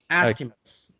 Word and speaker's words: estimate: national estimates remember estimates if it's the verb to estimate then you would be correct in pronouncing the ending eight but here it's the noun it's an estimate and so it's ut instead of eight you see that gary